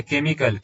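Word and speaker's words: chemical: पढ़ते हैं ठीक है जैसे इसको चरम नहीं बोलेंगे इसको कम बोलेंगे जैसे केमिकल सी एई तो आप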